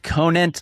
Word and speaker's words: Conant: Do you ever feel like people don't say the T? For the longest time, I thought that your name didn't have a T on it.